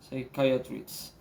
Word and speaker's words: psychiatrist: psy hi sorry i have my notes here say kaya treats okay so almost all the time in this